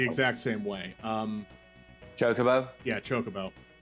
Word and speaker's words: chocobo: I had a friend in middle school that used to call them chocoboos, and I don't know why. There's no second O at the end there. There's no second O at the end, but he used to pronounce it like that.